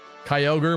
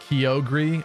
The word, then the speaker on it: Kyogre: similar ones to like engage Kyogre more like kogre oh did they say that in the anime too I think I remember hearing that that's horrible that's awful CH what's the